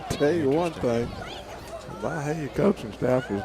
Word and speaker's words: Byhalia: Going to be 4th and 10 for Byhalia.